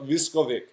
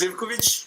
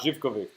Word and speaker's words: Zivkovic: Zivkovic. Absolutely wrong. I was gonna go Viskovic.